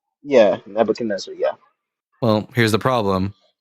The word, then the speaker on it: Nebuchadnezzar: I don't know how to pronounce his name, but it's right there. Nebuchadnezzar? Yeah, Nebuchadnezzar, yeah.